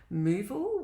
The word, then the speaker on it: Muval: And the day after we closed, I was headhunted by a company called Moval, which is spelled Muval, and they asked me to come and work for them.